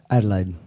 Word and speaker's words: Adelaide: Am I pronouncing it right? Adelaide.